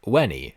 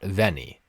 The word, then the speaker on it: Veni: inan first off V in classical Latin is pronounced like a w so it would be wenny and not Veni eventually it becomes the